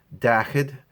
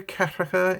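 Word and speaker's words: daichead: Dachid, you will hear Cathracha in Connemara dialect, but Dachid. Céige, Seasca, Seachto, Octo, Nocha, Céad for 100, Míle, Céad Míle Fáilte.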